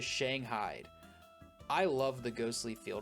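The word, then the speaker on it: Shanghaied: buff out those scratches I just spent five minutes pronouncing this one wrong till I looked up how to say it and that is Shang Hyde I love the ghostly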